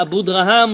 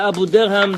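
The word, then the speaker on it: Abudarham: The fifth reason was from the Abu Draham or the Abu Derham, depending however you want to pronounce his word.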